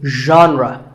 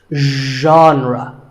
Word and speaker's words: genre: would you say it the correct pronunciation is genre pay attention to the first sound it's like but you have to put your voice into it genre genre next up is actually